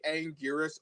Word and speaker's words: Anguirus: I mean, Anguirus himself has a lot of aliases, so you can basically call him whatever you want, but it's technically Anguirus overall.